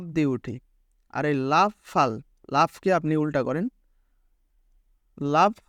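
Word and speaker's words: 팔: তো ফ, ফর সাথে আ, ফা। আর রিউল নিচে রয়েছে সেহেতু ল। তো এটার উচ্চারণ কি হলো? ফাল, ফাল।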